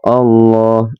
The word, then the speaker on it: Allah: Khatamallah, Allah, Allah ya. Ketika teman-teman melafadzkan lafadz Allah, ini harus dibacanya harus tebal karena ini dinamakan tafkhim. Allah, Allah, ya lafzul jalalah, tapi harus tebal.